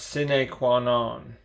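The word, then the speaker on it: sine qua non: quite a while back i think is pronounced sine quan on and roughly translated it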